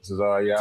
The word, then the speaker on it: Tazaryach: Tzar Tzar Ariak. Tzar Ariak. For those who For those who mispronounce it, like What It You know,